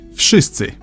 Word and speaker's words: Wszyscy: Wszyscy. I've heard people say it has no vowels, but it does. This letter here is a clear vowel in Polish and makes the sound like in the word system.